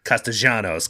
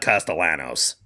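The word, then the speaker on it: Castaños: Uh um although of course I was I was corrected Sam. Yes, it is Castanos cuz he's Argentinian. So anyway, we get our we got our pronunciation pedentry from Sam at all times. But uh it is not Castellanos.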